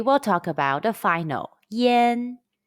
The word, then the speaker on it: yan: an initial or consonant it is spelled as y-a-n and pronounced yen yen means smoke in